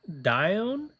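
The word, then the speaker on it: Dione: I think it's Dion. I don't know. Let's figure it out. D I O N E. Pronunciation. Dion. Oh, Dion. I was saying it wrong.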